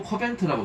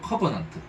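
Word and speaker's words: covenant: 뉴 코벤트라고 되어 있어요. 뉴 커버넌트 이렇게 발음해야죠.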